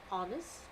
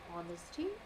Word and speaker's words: honest: Now, first of all, this is a list of words where the H, in all these list of words, my H is silent.